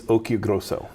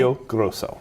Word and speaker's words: Occhiogrosso: It's Occhiogrosso, like Pinocchio. Okay. Occhiogrosso. Occhiogrosso.